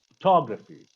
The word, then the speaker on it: photography: Photography, we stress the second syllable.